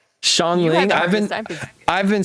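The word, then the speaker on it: Xiangling: Shanling. I've been I've been saying it wrong. I've been saying it wrong. I've been saying Shangling.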